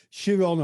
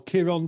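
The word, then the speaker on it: Chiron: mythology and of course shiron or kiron depending how you pronounce his name was a censure that's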